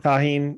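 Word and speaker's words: Tajín: I'm gonna butcher the name. Tajin. Tajin. Tahine. Yep. Tahine.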